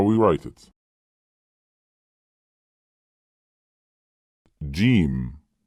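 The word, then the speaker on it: ج: Jim. How to pronounce the letters with short vowels, fatah, kasra, and damma.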